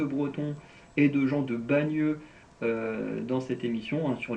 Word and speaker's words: Bagneux: Parce que les deux, la façon de prononcer, Bayeux, Bagneux, c'est quasiment la même chose.